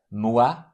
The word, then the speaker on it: moi: O-I-U-A. These diphthongs are pronounced like W-O in the English word one. So the pronunciation here is wa. Moi, quoi, guano.